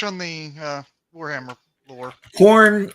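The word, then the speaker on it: Khorne: Corn is a funny name for a funny god, but it's spelled different. So, it's not corn.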